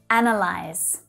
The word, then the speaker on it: analyze: So we're starting with a really strong stressed syllable here. An, an. But then the schwa sound, an unstressed syllable, follows. An, lie. Then we add that z voiced sound at the end to finish things off. Analyze. Sometimes this verb is mispronounced because it's quite similar to the noun analysis, right?